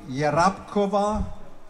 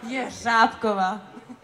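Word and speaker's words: Jeřábková: Weil ich eben etwas gestammelt habe, die einen sagen Jerabkova, die anderen sagen Jerzabkova. It's correctly? Jerzabkova? Yeah, it's okay. Oh, it's correct. Jerzabkova. Jerzabkova. Jerzabkova. Also mit etwas mehr Elan und mit der richtigen Betonung.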